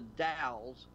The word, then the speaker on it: Dalles: It says at Horse Thief Meadows near the Dalles, wherever. I guess that's how you pronounce it. D-A-L-L-E-S. Dale, yeah, Dow? Dalles. All right, yeah, near the Dalles.